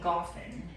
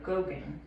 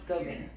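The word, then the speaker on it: Gauguin: or coworker in workmate Paul goffen oh Goen g a u g h i n pronounce Goen another post impressionist painter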